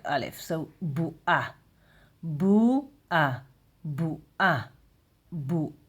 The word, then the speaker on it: בועה: But you we we don't say because uh we're talking today like Ashkenazi. So we um pronounce it a bit like al if not like oin. We say like al if so bu a bu a bu a